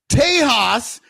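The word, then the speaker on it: Tejas: TAHAS, if you're talking about Texas, is spelled T E X. And if you are talking about tiles and you say Tahas, it is spelled T E J A S.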